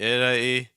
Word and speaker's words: Italy: briefly about like ital notice that Italy you're stressed on the first syllable Italian you're stressed on the second syllable um you have this